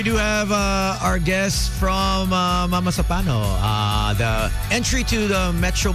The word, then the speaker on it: Mamasapano: Mama Sampano, no? Tama ba? Tama ba yung pagka-pronounce natin? Mama Sapano. Mama Sapano.